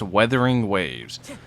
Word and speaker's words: Wuthering Waves: It's supposed to be pronounced Weathering Waves, but the way they spelt it is kind of fucked. So I call it Wuthering Waves, and everyone's going to correct me till the end of time.